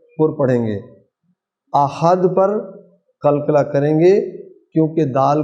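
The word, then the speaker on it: قُلْ: कुल का कौफ हलक से आएगा। हुवल्लाह, अल्लाह को पुर पढ़ेंगे। अहद पर कलकला करेंगे क्योंकि दाल को साइलेंट पढ़ रहे हैं, साकिन हो गया।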